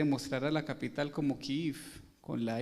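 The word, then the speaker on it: Kyiv: a la capital como kif con la y con las dos y porque es así como se pronuncia en el ucraniano kiev es la forma rusa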